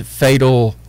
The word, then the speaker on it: Phatahl: His music name is Fatal. It's spelled PHATAHL.